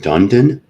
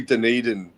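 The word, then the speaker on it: Dunedin: We took a mini bus from Dundan. Do I got that right? Dundan. Uh, is it probably Deneden? Deneden. Thank you.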